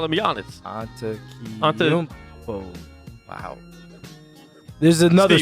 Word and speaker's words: Antetokounmpo: That's toe in the middle that I always miss. I always miss that the toe because the koumpo, like it's K-O-U and you pronounce the U. Yeah. Yeah, and then there's the N that's silent, and then it's How